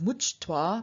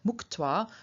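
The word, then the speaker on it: मुक्त्वा: Of much, to release, we do not get the absolutive much-toi, but rather muk-toi, with a ch changing into a k, so muk-toi, having released.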